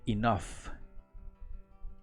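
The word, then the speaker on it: enough: tengo suficiente comida y escuchen cómo se pronuncia esta palabra se pronuncia como inof y nov y nos ahora bien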